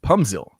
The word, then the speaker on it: Pumzil: It's Pumzil. It's pronounced as a P, not an F.